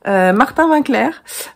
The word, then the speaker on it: Martin Winckler: martin winckler having clair je ne sais pas comment ça se prononce mais ça se prononce à la française apparemment martin winckler que je suis que